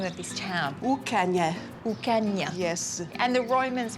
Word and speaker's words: Ucanha: So Inish, how do I pronounce the name of this town? Ucanha.